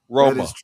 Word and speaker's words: Roma: So, uh Italians in the US say Rome has one syllable. It it it Italy Rome has two syllables. Interesting. It's true. Roma.